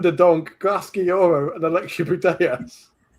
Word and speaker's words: Putellas: We've got Alexia Putellas. We've got Alexia. They can't pronounce it properly. And she spends the whole game going, Putellas. To the crowd. Putellas.